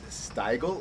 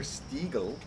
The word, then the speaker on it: Stiegl: one already is this is it style or Stegall depending on how you want to pronounce it it's a rattler which